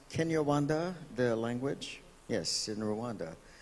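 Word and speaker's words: Kinyarwanda: exchanging notes and that is that uh it's pronounced kenyawanda the language yes in Rwanda is is not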